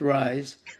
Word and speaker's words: Ryz: So, aside from those two things, I um let's see, the Rise Sports Network, which only started in November of 2024. It's spelled RYZ, but it's pronounced Rise.